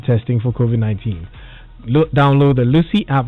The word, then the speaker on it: Luscii: Download the Lucy app right now and connect to this service. Lucy is spelled Luscii.